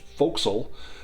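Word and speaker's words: forecastle: There's also for castle, which is pronounced folks.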